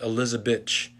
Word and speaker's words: Elizabeth: name was elizabeth but in brazil they pronounce elizabeth elizabetch so his family called